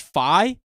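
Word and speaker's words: phi: members are growing dude it's pronounced fi is that a math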